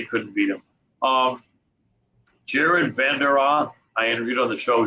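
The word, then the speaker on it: Jared Vanderaa: a really cool dude he said half of his family i think pronounces his name van der rohe the other vandara and i think he pronounces it bandera but um good good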